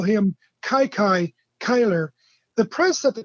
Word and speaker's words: Kiki: born in 1898 anyway his nickname as you as you rightly said uh kai kai probably the most mispronounced or one of the